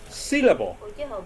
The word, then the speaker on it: syllable: Syllable. Syllable. 1, 2, or 3 has the strongest sound. C, right? C. So the stress is on the first syllable, right?